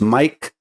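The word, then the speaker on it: Maic: My name is spelled M-A-I-C and sounds as Mike.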